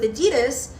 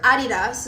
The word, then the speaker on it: Adidas: you you say if you want me to only endorse Nike and not work with Adidas or Adidas is really what it's pronounced as whatever.